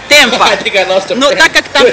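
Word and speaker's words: Tampa: Тампа. Или как произносят ее, Темпа.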